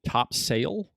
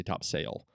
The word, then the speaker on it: Topsail: north carolina it's spelled top sail t-o-p-s-a-i-l island um however um uh everyone who's if you're local you say topsail you don't say top sale and it was named